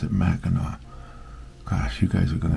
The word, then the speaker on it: Mackinac: It looks like Mackinac, the way it's spelled, but I think they pronounce it Mackinac.